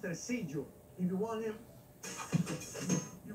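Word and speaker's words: Tresillo: It's pronounced Tercillo.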